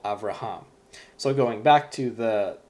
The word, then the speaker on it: Avraham: So when you pronounce Hebrew, the accent is always on the last syllable. So as an example, I have here the name Abraham. This is Avraham is how you pronounce it in Hebrew. But really with the accent, it's Avraham. The accent is on the last syllable, Avraham.